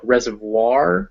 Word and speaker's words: reservoir: boy or coin um there's one exception to this and that is in french words which will have an o-i-r in them and then it's wa so this gives us word like reservoir which is a place